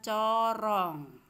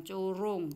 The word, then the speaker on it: corong: Harusnya rung karena ini suaranya o, jadi harusnya corong, tetapi ini dibaca corong, ya, dibaca corong, bukan curung tapi corong.